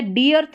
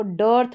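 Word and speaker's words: dearth: देखिए ये हो गया, डी अर्थ नहीं पढ़ेंगे, इसको डर्थ पढ़ देंगे, अर्ली, अर्न, लर्न और सर्च।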